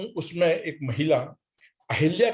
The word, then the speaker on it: अहल्या: जैसा जी ने कहा कि अहिल्या और अहल्या, तो विद्वानों का यह मानना है कि इसमें बर्तनी की अशुद्धि है, स्वर की पुनरावृत्ति हो रही है, इसलिए वो अहिल्या का उच्चारण आमतौर पर मिलता है।